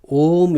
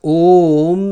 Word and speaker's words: Om: The first letter A is root sound, is the root sound. The key, pronounced without touching any part of the tongue or palate. A. M represents the last sound in the series, being produced by the closed lips. And the U rolls from the very root to